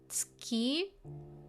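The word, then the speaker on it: 月: I know this one can be pronounced as tsuki.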